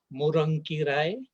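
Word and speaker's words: முருங்கைக்கீரை: Moringa is in fact a Tamil word. Properly pronounced in Tamil, it will be something like morankirai.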